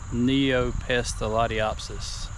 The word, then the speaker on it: Neopestalotiopsis: Neopestalotiopsis is the way that I have heard it pronounced.